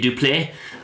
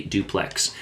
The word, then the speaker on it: Duplex: The duple, I swear I thought this ship was going to be pronounced duple, but it is actually duplex.